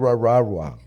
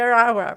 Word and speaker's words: Aragua: Está en Raragua. Ah, Tren de Aragua, perdón.